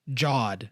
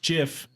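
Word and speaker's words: GIF: What if God came down one day and said, it's pronounced Jod? It's freaking hilarious. He'd come down and be like, it's pronounced Jiff.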